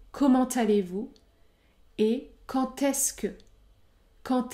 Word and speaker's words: comment allez-vous: qui sont comment allez-vous dans ce cas je prononce le T comment allez-vous et quand est-ce que